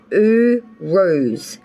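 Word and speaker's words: Uruz: of may you pulled the ruin pronounced ooh rose meaning ox or strength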